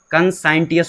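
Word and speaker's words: conscientious: तो ये देखो कंसाइटियस ये है कंसाइनस बोलते हैं इसे।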